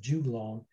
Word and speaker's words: juglone: Some people pronounce it juglone. I call it juglone, and garden species.